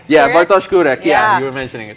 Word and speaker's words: Bartosz Kurek: You wanted to mention something about a Polish player whose name I will let you pronounce. Yeah. Sure. Yeah. Am I right? Yeah, sure. Bartosz Kurek.